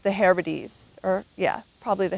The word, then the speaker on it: Hebrides: And Oban is a gateway to many of the destinations out in the, I think it's pronounced the Hebrides, or yeah, probably the Hebrides.